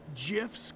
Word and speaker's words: GIF: They even have Supa Strikas GIFs. They're called GIFs, Coach. Actually, it's pronounced GIFs.